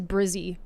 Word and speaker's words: Brisbane: got one in brisbane how does that pronounce it brisbane brisbane no spain brisbane brisbane also known as brizzy brizzy's the yeah yeah